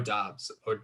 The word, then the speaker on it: Doubs: Well, it's actually pronounced Dubs, and that's solely why I have him that high, because his name is just amazing.